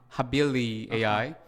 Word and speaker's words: HabiliAI: habibi or and many different names maybe my pronunciation is a problem but it's habili habili AI habili so yeah it comes from Latin word